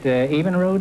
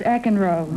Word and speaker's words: Eckenrode: Evenrood, is that the way you pronounce it? No, it's Eckenrode.